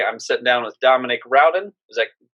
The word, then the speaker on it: Rowden: right yeah all right you're actually the first person to pronounce it right most time they call me rhoden dominique and all that so thank you all